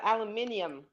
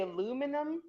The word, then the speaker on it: aluminium: About aluminium, and that you say aluminum, but it's actually not how No, it's that's that's spelled.